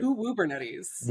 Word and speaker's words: Uwubernetes: was called I don't even know how to pronounce it Uwubernetes Is that Kat Cosgrove: Uwubernetties.